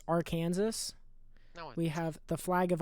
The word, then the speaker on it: Arkansas: um all right uh for those of you who don't know how to pronounce this it is our kansas we have the flag